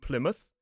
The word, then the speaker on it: Plymouth: We can see it in places like Plymouth, Portsmouth, and Bournemouth.